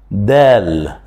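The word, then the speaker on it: د: Dal. C'est la même prononciation de la lettre D en français.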